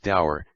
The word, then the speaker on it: Davar: It was a piquant fact that this judge, Sir Dinshaw Davar, pronounced dour, had been some years before in his private capacity a stout opponent of the trusts.